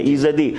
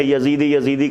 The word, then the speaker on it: ایزدی: کے لوگ رہتے ہیں، ایزدی جنہیں عام طور پر ایک مغالطہ ہوا تلفظ میں یزیدی کہا گیا، ایسا نہیں تھا، وہ ایزدی تھے۔ ایزد یعنی اللہ کا